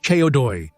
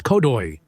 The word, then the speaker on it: CO2: In Romanian, this abbreviation is pronounced as Ceodoi, but Elena, they say, says Codoi, which in Romanian means big tail.